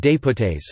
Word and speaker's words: député: The National Assembly's members are known as députés (French pronunciation: député, delegate or envoy in English).